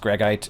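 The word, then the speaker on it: greigite: I think it's pronounced gregite. It's named after a guy whose last name was Greg spelled like this.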